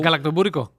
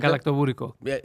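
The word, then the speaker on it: γαλακτομπούρεκο: La collation, il faudra que tu mettes dans la prononciation parce que je suis pas sûr de le dire comme faut. Galactobourico. Ah, toi, je l'aurais pas dit comme faut. Café et... Tu vois, répète. Galactobourico.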